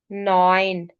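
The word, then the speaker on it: neun: sound आती है अख्त नयन अब इसमें इ यू की जो साउंड थी वो यहां पे आ रही है न ओ ए की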